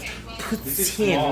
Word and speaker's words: poutine: $200 worth of poutine, which is how you say it officially.